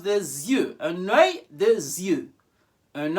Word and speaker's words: des yeux: Un œil, but in a plural, it's pronounced des yeux.